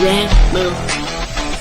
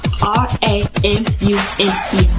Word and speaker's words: Ramune: It's called Ramune. Let me spell it out. R A M U N E, Ramune.